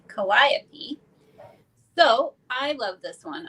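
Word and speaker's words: Calliope: and her name is I believe you say this kopy I think I think that's how you pronounce c a l l i o p e kopy so I love this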